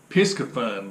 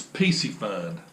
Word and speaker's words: Piscifun: reel it was called I pronounced it Pisgah fun but I think it's PC fun is the name of